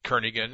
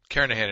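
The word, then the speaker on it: Kernighan: will be using the kernigan and Richie or Kahan I should say the g is silent karahan and Richie C programming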